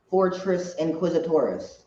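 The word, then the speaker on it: Fortress Inquisitorius: find Leia, they go into how do you pronounce the name of the fortress there, Michael? Fortress Inquisitoris.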